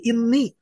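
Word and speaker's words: إنّي: Inna ketika bersambung dengan ya domir maka dibacanya jadi inni.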